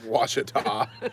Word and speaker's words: Ouachita: It's spelled Ouachita, pronounced Ouachita. And nobody Ouachita.